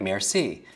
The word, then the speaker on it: merci: Just break it down into syllables. Mare. What's a mare? Like a female horse, right? So C, for me, Maybe the mare is in the sea, right?